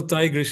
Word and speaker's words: Tigris: Is that how you pronounce the river? Yeah, Tigris. the Tigris, Tigris. Right. Tigris. Okay. Yeah. Mhm. It's the Greek. I said it in English. Right. It's also Tigris in Greek.